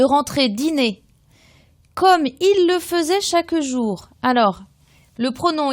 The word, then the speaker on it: faisait: troè personne du pluriel donc attention FAI ça se dit faisait ça s'écrit fait F a i s a I e n t comme il le faisait